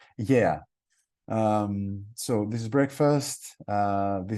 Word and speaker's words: Gaia: The restaurant is called Gaia, but it's different. In Greece, it means earth, and it's pronounced yeah.